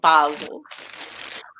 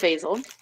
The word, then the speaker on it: basil: sorry but so For You Janet I have basil or some people call it basil I pronounce it basil Prosperity luck and love reflection time for you